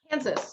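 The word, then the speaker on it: Hanzas: Kansas, rhymes with Kansas.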